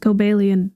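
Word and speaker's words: Cobalion: I don't know why it's pronounced Cobellian.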